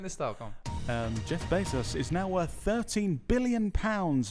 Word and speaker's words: Bezos: In other news, Jeff Bezos. How do you say his name? Bezos.